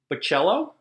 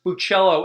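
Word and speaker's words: Bachalo: So um Chris Bellachello, I want to apologize because previously in the last video I butchered your name. So whoops. Sorry about that. Um, I I love your artwork. Sorry about that. Again, Chris Buchello.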